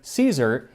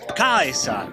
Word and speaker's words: Caesar: 1st century BC Rome, which would be with a hard C. So instead of Caesar, he pronounces it Augustus Caesar.